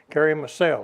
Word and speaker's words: Karamürsel: Karamürsel, okay.